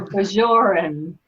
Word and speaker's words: Bajor: So it's something between a hard and a soft J.